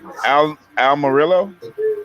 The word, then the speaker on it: Almirola: I think it's pronounced Eric Almirola.